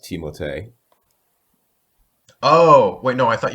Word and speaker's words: Timothée: Timothy Chalamet, or I believe he pronounces it Timothée because it's French.